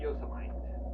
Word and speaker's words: Yosemite: It's not Yosemite. It's, how do you say it? It's an Indian name from the tribe that lived out there. Yosemite.